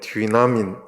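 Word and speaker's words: δύναμιν: 저게 디나민이에요. 디나민.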